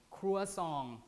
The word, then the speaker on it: croissant: this type of food people pronounce it like so different ways croissant croissant cruel song like french or even some people just